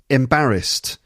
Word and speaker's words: embarrassed: be embarrassed wouldn't you embarrassed three syllables okay and there's an ed ending there edie but it's not embarrassing it's embarrassed at the end embarrassed embarrassed that's three syllables and it's the second syllable again embarrassed okay next one important